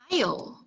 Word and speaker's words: aisle: Aisle. So I like this word because the alphabet S is not pronounced here.